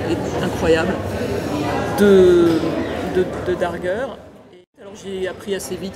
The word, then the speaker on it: Darger: alors à l'époque on on dire encore Henry der maintenant on sait que c'est Henry Darger qu'il faut le prononcer à l'allemande et euh ils m'ont